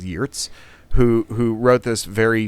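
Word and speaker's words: Geertz: which I think uh people might know as gez but I'm told the Dutch pronunciation is YZ who who wrote this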